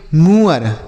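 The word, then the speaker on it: moor: उसके बाद M double O आर इसे हम पढ़ेंगे मूअर।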